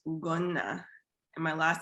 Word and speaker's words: Ugonna: My middle name is pronounced Ugonna, and my last name is pronounced.